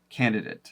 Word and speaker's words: candidate: from her English so I say candidate this is what actually I hear the most often candidat is something that I hear quite a bit but mostly from people who have been trained to speak like professionally so newscasters people who